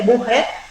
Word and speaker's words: Bucher: digamos, el editor es el doctor Enrique Bucher, se escribe, se dice Bucher, Enrique Bucher.